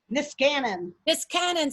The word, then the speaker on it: Niskanen: Niskanen, how do you say that? Niskanen Center.